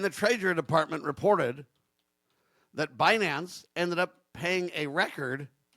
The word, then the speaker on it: Binance: I guess it's Binance. Is that how you say it? B I N C E. It's not bite dance. It's It's not like the Tik Tok thing. It's Binance or whatever.